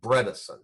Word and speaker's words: Bredesen: first book was the end of Alzheimer's by Bredesen BR e de Sen the second book is